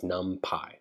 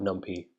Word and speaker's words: NumPy: using for loops now the way you pronounce numpy is numpy it's not numpy numpy and essentially it's a